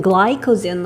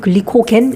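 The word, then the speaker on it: glycogen: 영어로는 글라이코젠 뭐 이렇게 읽어. 우리는 그냥 글리코젠. 우린 글리코겐 이렇게 보통은 발음을 하지.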